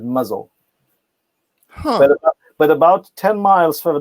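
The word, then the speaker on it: Mousehole: is mouse hall right the locals don't like to pronounce that they pronounce it muzzle but about 10 miles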